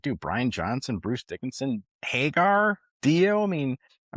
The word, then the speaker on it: Dickinson: I mean Bruce want you want Bruce Dickerson. Dickinson. Dickinson. Dickinson. Oh, I say it wrong.